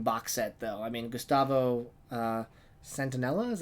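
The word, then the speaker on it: Gustavo Santaolalla: of us one box set though I mean Gustavo Centinela is how you pronounce his name he is an amazing composer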